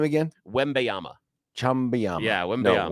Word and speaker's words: Wembanyama: Wembanyama. Chumbawamba. Yeah, Wembanyama. No, Wembanyama.